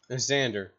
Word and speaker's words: Xander: Xander with an X, not a Z.